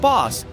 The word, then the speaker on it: Bas: It's pronounced Bas.